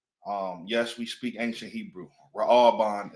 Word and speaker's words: Reuben: Ra'aban is how you say it in ancient Hebrew.